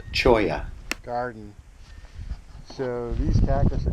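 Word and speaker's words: cholla: l l a chola I found out it's pronounced choya Garden so these Cactus are just going crazy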